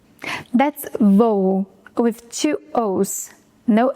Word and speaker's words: voo: That's voo with two o's, no accent.